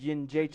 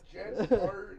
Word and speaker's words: Jędrzejczyk: It's Yin Jacek. Jarczyk. The N is silent and not visible. That's right. Jarczyk.